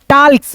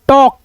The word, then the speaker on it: talk: टाल्क्स, टाल्क नहीं दोस्तों, टॉक, क्या पढ़ेंगे? टॉक, ठीक है। एल यहाँ पे साइलेंट है।